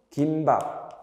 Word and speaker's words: 김밥: 되고 안 해도 되고 김밥 원래는 뭔가요 원래는 김 밥이 표준 발음이었으나 김밥도 맞죠 그리고 긴 소리를 잊지 마요 김밥 김은 기니까 김이다 긴 소리가 있습니다 긴박 김밥 그다음 하나